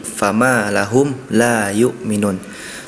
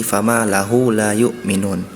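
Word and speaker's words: لهم: Tadi fama lahum la yu'minun. Tadi huruf mim sukunnya pelafalannya kurang terdengar jelas, sehingga terdengar seperti fama lahu la yu'minun.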